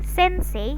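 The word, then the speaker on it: せんせい: Contohnya sensei. Teman-teman bisa menggunakan kata sensei, jadi I-nya bisa dibaca atau sensei. Sensei. Sensei. Jadi I-nya hanya untuk memanjangkan huruf E, jadi E-nya 2 harokat.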